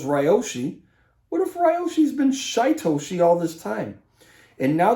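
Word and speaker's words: Shytoshi: of this team uh rhymes with ryoshi shaitoshi okay another i think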